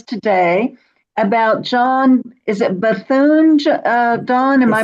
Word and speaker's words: Bethune: And Don's going to speak to us today about John, is it Bethune, Don? Am I pronouncing? Bethune.